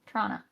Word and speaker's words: Toronto: So like it's toronto but you drop the T's after the first one.